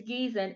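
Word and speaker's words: Giesen: I may be mispronouncing. I always do. It's Gießen, and it has more of a creamier mouthfeel.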